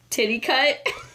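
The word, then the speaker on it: Titicut: struggle with the pronunciation I looked it up and it was pronounced titty cut to the cut to the cut Follies to the cut flat Follies it was made in 1967.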